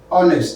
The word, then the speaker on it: honest: So for those ones here, R, honor, hair, honest, the H sound is silent.